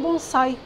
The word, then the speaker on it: bonsai: completa de criar a árvore bonsai Aliás a pronúncia é bonsai significa abre em vasos então aí já estamos